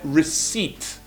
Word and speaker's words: receipt: A gente esqueceu desse P há muito tempo, mas agora voltou. Pessoal, é receipt.